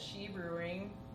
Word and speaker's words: Sidhe: I run a monthly showcase called Slay, and that's at She Brewing Company. She is spelled Sidhe.